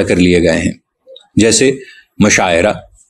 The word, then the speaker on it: مشاعرہ: لیے گئے ہیں، جیسے مشاعرہ۔ یہ لفظ مشاعرہ ہے، عین پر زبر کے ساتھ، مفاعلہ کے وزن پہ، لیکن اسے مشاعرہ کوئی نہیں کہتا، مشاعرہ کے زیر کے